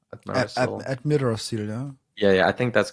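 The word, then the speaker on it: Amirdrassil: So I think how do you pronounce it? Admirasil? Admirasil, yeah?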